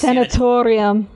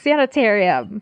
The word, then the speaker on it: sanitarium: She says sanatorium. Yeah, the sanatorium. And she says it like 5 times. Yes. And I'm like, bitch, it's sanitarium.